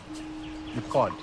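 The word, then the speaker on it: McQuoid: This is directed by Simon McQuad. Quad, one syllable. McQuad.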